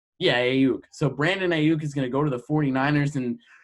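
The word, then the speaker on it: Aiyuk: Ayuk. Yeah, Ayuk.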